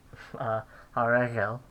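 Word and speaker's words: הָרֶגֶל: Haregel, I forgot the first syllable stress. Haregel, the feet or the legs.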